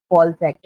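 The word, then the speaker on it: COALESCE: कॉल सेक। इसकी क्या? बात करते हो, हाँ, क्या है ना? बोलते हैं सर? इसको कोलीज, कॉल सेक चलिए।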